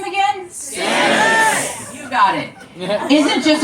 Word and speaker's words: Stamets: Stamets.